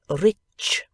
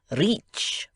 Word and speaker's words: rich: "Our English adverbs do not terminate in mong, and we pronounce the ch as if there were a t before it. We say rich." "Reach," remarked the foreign gentleman.